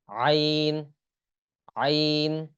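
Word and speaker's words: عين: থেকে উচ্চারণ হবে তাহলে আইন এটা একটু ভিতর থেকে উচ্চারণ করার চেষ্টা করতে হবে না হলে এটার উচ্চারণটা শুদ্ধ হবে না তাহলে উচ্চারণ কি হবে আইন আইন এরপর আছে দেখুন এই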